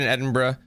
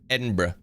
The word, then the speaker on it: Edinburgh: So pack of sencio violin crafted in Edinburgh. See, I said it right. It's not Edinburg, fam. Edinburgh. Brh. Edinburgh. That's what you got to do.